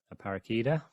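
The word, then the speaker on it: Aparecida: Lady of aarish today that's how you pronounce it a paraka and happy Columbus Day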